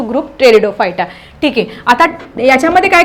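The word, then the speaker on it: Pteridophyta: ते व्यवस्थित लिहायचं आहे कारण पी टेरिडोफायटा आपण म्हणताना टेरिडोफायटा म्हणतो पण लिहिताना टेरिडोफायटा टी एक्स्ट्रा झाला बघा इथे मग फर्स्ट पॉईंट मध्ये काय लिहिणार तुम्ही fun belongs to group टेरिडोफायटा ठीक आहे आता याच्यामध्ये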